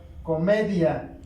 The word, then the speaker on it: comedia: Si seguimos en el mismo tenor del gráfico, tendremos la palabra comedia. El grupo de intensidad dominante va aquí, o la sílaba tónica va en me.